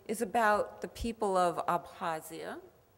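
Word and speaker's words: Abkhazia: about the people of abhasia just drop the k apazia and kabardinia it's these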